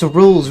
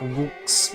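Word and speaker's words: Rouxls: It's pronounced rules.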